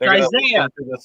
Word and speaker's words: Isaiah: It's Isaiah. It's Isaiah. That's how it's called. That's how it's pronounced. It's Isaiah. That's just how you say it in Spanish.